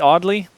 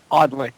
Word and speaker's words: Audley: How do you pronounce that? Audley? Audley. Audley.